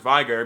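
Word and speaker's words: Veigar: who vigar is pronounced Vigor because in German when you have like an e and an i next to each other you say the you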